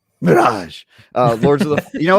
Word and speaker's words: Mirage: Yeah, I've been playing AC Mirage, Cyberpunk. You just said it wrong. Mirage.